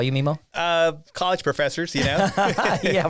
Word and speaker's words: Memo: I've been thinking about this for a while, but why is it pronounced Memo? So, not Nemo or Memo. Memo. Do people call you Memo?